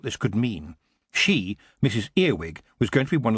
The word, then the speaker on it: Earwig: of her manor house mrs earwig pronounced our widge got the news while